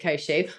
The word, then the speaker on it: Koshu: koshou I mean okay do we pronounce it kosu we do pronounce it kosu also you're going to have to forgive me